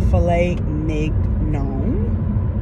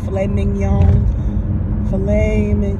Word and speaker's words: filet mignon: meal I had um four ounces of a filet Nick gnome I can never pronounce that filet mignon I just call it a filet I have